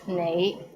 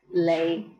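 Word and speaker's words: 你: is the word you the right way to pronounce it is nay but in hong kong many people pronounce it as lay how was it pretty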